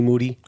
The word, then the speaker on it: Moody: the name of Moody obviously you know that the last name rhymes with Duty um this is the